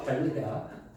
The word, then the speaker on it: 반례: 반예 아니야. 또 봐. 반례야.